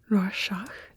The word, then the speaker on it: Rorschach: So I would love to start with a very famous test called the Rorschach test, or in German it's more like the Rorschach test.